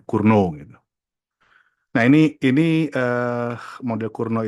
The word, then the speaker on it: Cournot: Ini orang Perancis, jadi bacanya jadi T-nya nggak di T-nya luluh gitu ya, Cournot gitu.